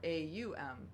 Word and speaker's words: Aum: And so when we sound a sound like the primordial sound of Om, which most people have heard, OM, or AUM, if we're Aum, would be how it's pronounced in Sanskrit, the sacred language of yoga in India and Eastern tradition.